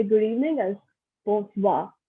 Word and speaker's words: bonsoir: So we just combine them to say good evening as bonsoir. Again, I'm not pronouncing the R at the end.